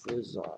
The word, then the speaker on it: faisons: Nous faisons, d'accord, avec AI, ça prononce E. Nous faisons des efforts.